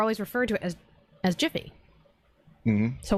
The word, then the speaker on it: Jif: butter sandwich for the jiffy peanut butter but it's not jiffy it's never been jiffy it's never had a name change to jiff it's just always been Jif peanut butter this is